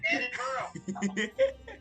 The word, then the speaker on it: Edinburgh: Edinburgh. It's Ed in Burrow. Okay. And he's the inside of a burrow. Seems like you're having a hard time pronouncing it there, mister. I don't have a problem. Edinburgh.